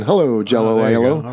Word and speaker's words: Aiello: like the food, and it's basically because it rhymes with Aiello. Everyone enjoyed saying, hello, Jell-O, Aiello.